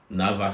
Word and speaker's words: NAWA: so I got the NAVA scholarship. I mean, it's pronounced Nava, but it's spelled as Nawa.